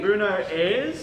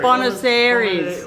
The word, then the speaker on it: Buenos Aires: well, I've got to say, Bruno Ayres, is that a place? Bruno, is that, am I pronouncing that properly? no, Ayres. Buenos Aires.